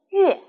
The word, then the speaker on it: 乐: 这个乐字还有另外一个读音，乐，跟老师读乐，音乐。